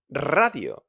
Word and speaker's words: radio: Again, because the R is at the beginning of the word, we roll it. Radio. We don't say radio. It says radio.